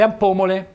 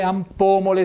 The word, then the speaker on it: ampomole: I lamponi sono le ampomole, ampomole, sentite un bel accento sulla O.